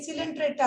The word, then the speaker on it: Coelenterata: ना, सी साइलेंट है, ये सिलेंट्रेटा है, यहाँ पर सी साइलेंट नहीं है, ठीक है ना।